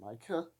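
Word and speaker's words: Micah: want to pronounce it I pronounce him concept Myka like the rock mica because well it's spelled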